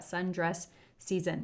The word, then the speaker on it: Sundress Szn: It's SZN, so however you'd like to say it, that Sundress Season is how I'm going to pronounce that.